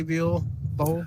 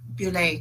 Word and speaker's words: Buell: Buell. I'm pronouncing probably her name wrong too. It's Bulle.